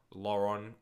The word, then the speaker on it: Laurent: We don't pronounce the T in Lauren. Yeah, I know. I was just doing it so people knew what I was talking about. Lauren Koscielny.